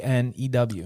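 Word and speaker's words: Kanew: he have a cologne canoe canoe canoe Jeff it's spelled k a n e w is the K silent is with Gary Cano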